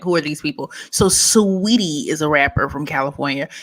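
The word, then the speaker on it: Saweetie: If you look at the spelling, that's what it says. It's sour tea. Yes. Sour tea. It's Sweetie.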